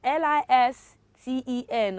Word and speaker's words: listen: first word i have l-i-s-t-e-n how do you pronounce that children do you say listen uh it's so wrong because the letter c the side the t is what is silence you recall i said